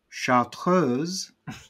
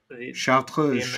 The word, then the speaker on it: Chartreuse: half an ounce of, believe it or not, chartreuse. Can you pronounce it? Chartreuse.